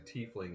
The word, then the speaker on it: tiefling: you told me that what I'm saying tiefling is is the accepted but it is spelled tightly yeah like TIE fighter yeah but I don't